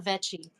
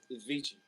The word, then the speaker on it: Vichi: Vichi or Veti? Vichi. Vichi. Like Italian vichi.